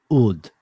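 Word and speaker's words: ʿĀd: of people called the ud spelled like apostrophe A.D but pronounced more like old and back in the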